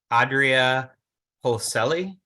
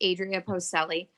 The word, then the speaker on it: Adria Postelli: up we have um Adria holcelli um unmuting your name sorry if I mispronounced your name it's okay happens a lot it's Adria postelli um so I'm a